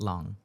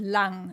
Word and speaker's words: Lang: Long. You pronounce it lang in German. Lang, okay.